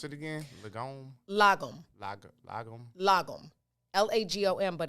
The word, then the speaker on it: lagom: Really, today's word is lagom. Lagom. I pronounced it right, just so you know. Not to be confused with legume.